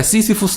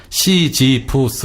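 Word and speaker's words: Sisyphus: 아까 시시푸스 이렇게 얘기했는데 이렇게 하지 말고요. 시지푸스 이렇게 해야지 잘 알아듣기가 쉽죠, 그죠?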